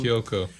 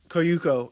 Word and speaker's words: Kyoko: Kyoko. Kyoko. But it's spelled it's Kyouko. So that's a different way how they usually spell Kyoko. And I was like, Koyuko or whatever. But Kyoko.